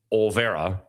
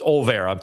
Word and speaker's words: Olvera: In this ball game, Jackson Olvera, and it is Olvera. People like to put an extra syllable in there, an extra vowel. It's Olvera, 29 points on 9 of 16 shooting.